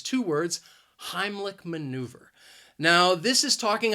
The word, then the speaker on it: Heimlich: person the Heimlich maneuver now Heimlich has two syllables and the stress is on that first syllable Heimlich and I think that second syllable even though it's spelled with ACH it's not a CH sound it is more of a cake sound Heimlich and maneuver has